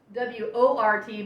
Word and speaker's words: wort: with this liquid, and it's called wort, which is spelled W-O-R-T, but you pronounce it wort.